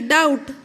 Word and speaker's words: doubt: Number 3, doubt, B is the word used as silent.